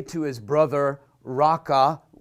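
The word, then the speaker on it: Raca: say to his brother raqqa it's actually pronounced in Hebrew Reika shall be guilty before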